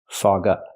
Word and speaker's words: fog up: The Sounds fog up fog up it's a phrasal verb so you stress both words fog up not fog